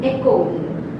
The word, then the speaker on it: école: E is silent, and second example you can write down école, where this E is also silent.